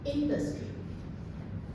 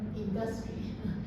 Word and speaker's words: industry: Uh the word is pronounced industry instead of industry. So, the the stress should be on the first syllable.